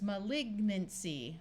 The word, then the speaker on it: malignancy: we add some suffixes it becomes malignancy where the n Sound is clear if you need more